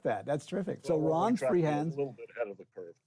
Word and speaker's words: Ranz: that but uh anyways r-a-n-z uh is just the sound of like for ron so so the the proper pronunciation there is not rand's free hands but ron's free hands by what by